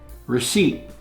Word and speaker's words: receipt: Receipt. There's a P in there, and the P is silent, not receipt, it's receipt.